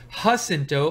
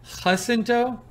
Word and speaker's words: Jacinto: Oh, it says, Fit to be Tied says, Steve, Jacinto can be pronounced either with an H, Jacinto, or like Jacinto.